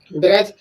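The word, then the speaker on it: bridge: Knowledge, knowledge में देखो वही है, डी के बाद जब जी आया तब डी साइलेंट रहेगा, डी का साउंड नहीं बोला जाएगा। ब्रिज, ब्रिज मीन्स होता है पुल, जो एक रास्ते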